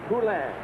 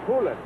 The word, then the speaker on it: Poulin: From the Scarborough area, and it's not Poulin, it's Poulin.